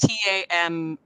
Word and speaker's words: Tamora: It's spelled Pierce. Tamora.